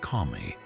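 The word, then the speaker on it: 神: This is pair wit Chinese letter pronounced kami.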